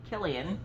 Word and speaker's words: Killian: kill in it he's killian with a k rhymes with jillian with a j um but if killian